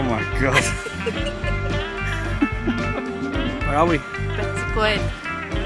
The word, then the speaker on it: Betws-y-Coed: Betws-y-Coed. Betws-y-Coed, is that how you say it? Yeah. Betws-y-Coed.